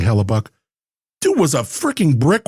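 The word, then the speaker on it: Hellebuyck: It's spelled weird, but I think they're saying Hallellabuck.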